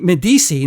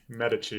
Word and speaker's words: Medici: Medisi. Now, am I pronouncing Medisi right? Medi. Medici.